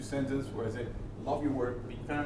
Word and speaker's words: Say: Say. Saying? Say. Same? Like, pronounce it like S-A-Y. Say.